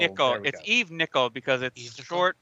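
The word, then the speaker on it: Evenicle: Evenical, so I think. It's Evenical. Eve Nickel. It's Eve Nickel because it's short. It's Eve Nickel because it's short for the. It's a portmanteau for the Chronicle of Eve.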